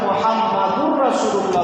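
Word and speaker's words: محمدا رسول الله: এই শব্দ থাকার কারণে কালেমার মধ্যে আমরা যে মুহাম্মাদুর রাসূলুল্লাহ বলি, এটা আজানে আয়েশা কি হয়ে যাবে? মুহাম্মাদার রাসূলুল্লাহ। যেটা কালেমায় মুহাম্মাদুর রাসূলুল্লাহ, এটা আজানে মুহাম্মাদার রাসূলুল্লাহ।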